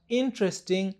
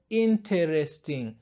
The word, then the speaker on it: interesting: Na katika neno la tatu tunabananisha T na R tena na tunaficha E. Hivyo inatamkwa interesting na sio interesting.